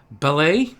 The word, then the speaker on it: Balej: Montreal sent Joseph Ballet, that's Balej, if you're wondering how it's spelled, and a 2004 second-round pick to the Rangers for Alex Kovalev.